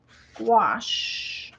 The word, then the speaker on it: gouache: But of course, Azure says I might want to look at gouache, I think is how you say it.